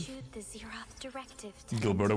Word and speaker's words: Gilberto: issued the Zeroth directive to Gilberto with a hard G is crazy.